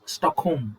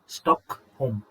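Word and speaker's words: Stockholm: Norway Norway Oslo ರಾಜಧಾನಿ Sweden ಸ್ಟಾಕ್ ಹೋಮ್ ಅಂತ ಹೇಳಿ ಉಚ್ಚಾರಣೆ ಮಾಡಬೇಕು ಸ್ಟಾಕ್ ಹೋಮ್ ಆಯ್ತಾ ಎಲ್ ಸೈಲೆಂಟ್ ಇಲ್ಲಿ ಸ್ಟಾಕ್ ಹೋಮ್ ಫಿನ್ಲ್ಯಾಂಡ್ ಹೆಲ್ಸಿಂಕಿ ಆಯ್ತಾ ಇಲ್ನೋಡಿ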